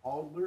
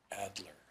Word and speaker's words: Adler: Mayor, so is it Alder or Adler? Adler. Adler, okay. So I thought maybe it was misspelled here. No, it is Adler.